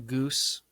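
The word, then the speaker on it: Ghüs: So I just recently launched a project under the name Goose. It's spelled Ghus.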